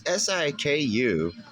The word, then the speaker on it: Siku: Those Siku diecast, I think is how you pronounce it. It's Siku, and they're from Germany.